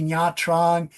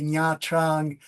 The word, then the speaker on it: Nha Trang: really had me say Nha Trang. And I was laughing because Japanese people say that the cat says Nha Nha Nha. So it's the same pronunciation as Nha Nha Nha for Nha Trang.